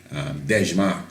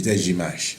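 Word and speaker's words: Dejazmach: Now, some people call it Dejmak and many different things, but when you hear the Ethiopians pronounce it, the Dejimash.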